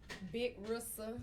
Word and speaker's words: Big Rissa: He said your name wrong. Big Rissa.